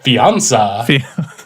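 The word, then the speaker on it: fiancé: now fiance it's fun fiance yeah rhymes with beyonce fiance this is my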